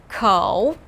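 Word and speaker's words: 口: looks like a person with two legs ko pronounce with me ko this means mouth and looks like a mouth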